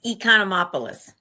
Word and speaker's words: Economopoulos: It's Economopoulos. Economopoulos.